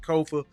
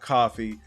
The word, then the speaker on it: Kofa: Again, I am your humble host, Kofa, Kofa, not coffee, not kufu, not Kofi, or any variation thereof. Kofa rhymes with sofa, easy to say, easy to spell.